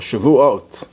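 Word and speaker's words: Shavuot: 6 weeks that's the holiday of shivu or Shu if you want to use the spartic pronunciation shu is the anniversary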